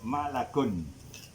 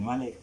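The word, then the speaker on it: مَلَك: Kalau seorang malaikat bacanya malakun. Malakun. Kalau banyak malaikatun. Di jamaknya. Kalau malakun ni seorang malaikat, malakun. Malak. Bukan malik, malak.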